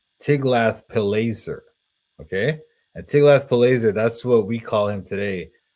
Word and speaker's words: Tiglath-Pileser: But for some reason, and even in the Book of Kings, for instance, this name is pronounced Tiglath-Pileser, not Tilgath-Pilneser.